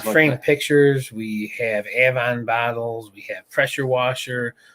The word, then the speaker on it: Avon: We've got a town up by us that's spelled that way, and it's pronounced Avon, so we all pronounce it Avon up this way.